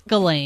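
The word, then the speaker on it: Ghislaine: It's Galain.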